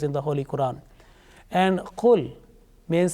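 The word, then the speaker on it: قل: similar sounding letters, and certain letters are pronounced with thick sound and also some with thin sound. You can see the example now here, the kul, and the second one is qul.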